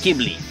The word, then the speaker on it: Ghibli: one of the most affordable luxury car it's pronounced ghibli and it's referred to the african desert wind